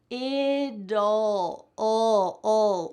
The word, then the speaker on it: it'll: We're adding here a little schwa sound, which is a vowel. So even though we don't see the vowel, we're still pronouncing a vowel, and it's making that T change to a D.